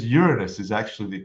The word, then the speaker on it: Uranus: thank you uh Ur in is it it's Uranus is actually the correct pronunciation did you know that yeah and there's